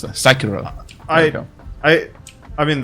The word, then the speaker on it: Sekiro: to pronounce that. Sekiro.